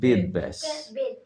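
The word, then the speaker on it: বেদব্যাস: শ্রেষ্ঠ ঐতিহাসিকবাদ, বিদ না, ওটা বেদ ব্যাস। সঠিক উচ্চারণ করার চেষ্টা করবে, ঠিক আছে?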